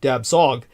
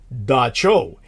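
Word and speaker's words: Dab Tsog: TSOG, in other words, DAB space TSOG, Dab Sog, is how you would think it would be pronounced. It's really pronounced Da Cho.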